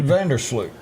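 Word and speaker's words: van der Sloot: Vanderloot.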